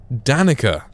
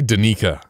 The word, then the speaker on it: Danica: Danica. It's like Monica, but with the Dan. No, you say Danica.